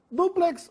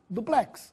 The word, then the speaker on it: duplex: vai crisântemo com acento duplex ou duplex as palavras estão duplamente corretas porém se quiser usar a formaa preferencial use duplex sem acento hieróglifo ou hieroglifo não